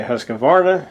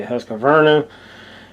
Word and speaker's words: Husqvarna: pronounce this some say hus of Vera some say husk Verna and so it's kind of like tomato tomato pronounce it however you wish I guess I don't